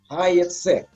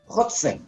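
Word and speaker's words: הַיְצֵא: Sekarang kita mau lihat arti dari kata Ibrani hayetse. Ditulis pakai vav, tapi dibacanya pakai yud. Bring forth, keluar. Ketifnya Hotse, tapi carry-nya Hayetse.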